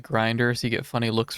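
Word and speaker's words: Grindr: You just pronounce it like grinder.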